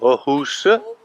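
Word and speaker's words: Åhus: Ecco, Aarhus o Aarhus, come sembra si dica.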